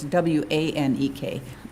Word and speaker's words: Wanek: family member of mine, so it's W-A-N-E-K. Okay. Wanek is how it's pronounced.